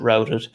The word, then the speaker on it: routed: i have this thing rooted routed routed i would pronounce it routed um other than the